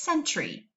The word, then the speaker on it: sentry: so it's going to, usually Y says it's E sound at the end of a two-syllable word. Not always, but usually. Go ahead and read that. That's right, that says sentry.